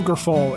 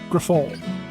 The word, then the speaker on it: Grifol: It's not Pedro Grifol. It's Pedro Grifol.